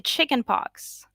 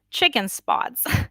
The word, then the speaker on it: chickenpox: was he gonna say chickenpox which people pronounce like chicken spots a lot of the time because chicken pox gives